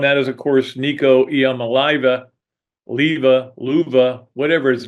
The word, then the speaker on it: Iamaleava: is, of course, Nico Iamaleava, Luva, whatever his name is. I even heard Christine Lisi mispronounce his name on. It's hard. It's a hard name because it's Iamaleava, I think. There may be Leva.